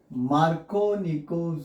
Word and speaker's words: Markovnikov: Addition of HBr on propene using Markovnikov's rule.